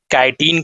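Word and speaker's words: chitin: तो इसका आंसर हो जाएगा बी कैटिन का बना होता है। ठीक है? एच यहां पर साइलेंट।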